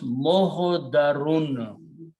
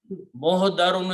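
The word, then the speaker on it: محضرون: Dwad, middle letter, if you pronounce with a fataha, it becomes mohodarun. Mohodarun is a person who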